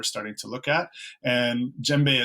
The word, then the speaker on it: djembe: to look at and djembe is spelled here with D J embe which is a pretty crazy way to say it but it's a really